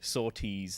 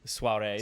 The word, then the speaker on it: sortie: Soirees. It's pronounced. Is it? No. Sortie. I don't even know what they are. I saw it too. It's like sortie is French for exit.